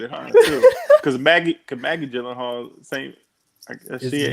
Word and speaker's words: Gyllenhaal: I found out about Jake Gyllenhaal on Conan O'Brien, and he pronounced it real, like even better than I did. Conan, it's like you're supposed to stress the all, like Gyllenhaal.